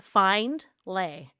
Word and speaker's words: Findlay: however you can, just say Findlay. Yeah. It's spelled find lay. Yes. Findlay. The D is That silent. Yes. The D is silent.